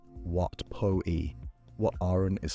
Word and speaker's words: Wat Pho: Wat Pho is said Wat Po-i, Wat Arun is said Wat Arun.